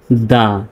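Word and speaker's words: the: তাহলে শব্দের প্রথমে যদি কনসোনেন্ট থাকে তাহলে হবে টি এইচ এর উচ্চারণটা দা আর যদি ভাওয়েল থাকে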